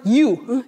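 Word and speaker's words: ewe: He stands for you. It's spelled E-W-E.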